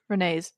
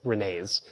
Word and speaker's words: Rene: Rene's. Sorryene, still trying to memorize them. Rene. It's Rene, but everyone mispronounced it as Rene's.